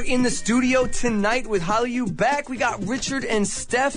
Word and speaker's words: HallyuBack: of your site hollow you back am i pronouncing it correctly yeah Holly you back what's where's this coming from okay well this